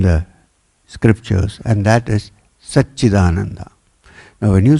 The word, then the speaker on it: Satchidananda: scriptures, and that is Satchidananda. Now when you say Satchidananda, it's actually made up of 3 syllables. One is Sat, the other is Chit, and the last one is Ananda.